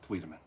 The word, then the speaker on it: Wiedemann: Hi, Wiedemann. It's Wiedemann.